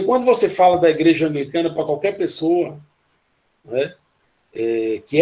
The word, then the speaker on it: anglicana: As pessoas chamam angelicana, né? E aí, quando vai falar episcopal, uma pessoa falou psicopata. Então, são coisas que a gente... anglicana também existe essa pronúncia, essa dificuldade com o L da igreja anglicana.